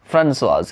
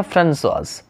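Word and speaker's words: Françoise: ये फ्रेंच में है फ्रांसोइज, इसलिए सी के नीचे यहाँ पर में एक मार्क लगा हुआ है।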